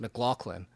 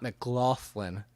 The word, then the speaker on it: McLaughlin: G in it because it's pronounced McLaughlin and not McLaughlin. So he said he didn't care because there's a G sound in there.